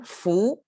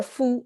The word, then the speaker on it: 夫: that is and then foo or foo i guess by itself it pronounced as foo means somebody's husband is